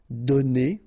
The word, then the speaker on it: donnés: So the good news is that you don't pronounce it, so donner, okay? So whether it would be without this final es or with ES, you will pronounce it the same way.